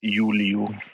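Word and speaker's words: Iuliu: That's Cosmo or but his actual name is Yuliu. Okay. Yuliu. Awesome, thank you very much. But it's spelled with an I first, so that's why some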